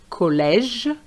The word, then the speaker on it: collège: So we have collège versus collègue. So you can see that that extra U makes a difference. collège collègue désert dessert Be careful here.